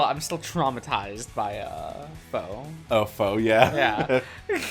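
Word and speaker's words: faux: still traumatized by uh foe oh foe yeah yeah f a u x why you got you pronounced just the F foe there's no o there those other letters are just fake yeah kind of like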